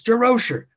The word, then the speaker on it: Durocher: his name he says it's derosher rhymes with kosher I mean can you